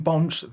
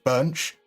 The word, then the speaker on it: Bonch: So Cockusmerch says, on Bonch, the O in his name is pronounced like the EA in Earl, so Bunch.